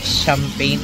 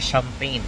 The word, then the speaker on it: champagne: Ang bigkas dito is Reims, the champagne capital of France. Wow! Actually, hindi siya champagne. Ang bigkas na dito is champagne.